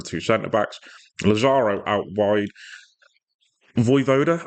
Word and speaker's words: Vojvoda: Voivoda, I believe his name is how it's pronounced anyway, not Vojvoda, which I can't stop reading, would remain as the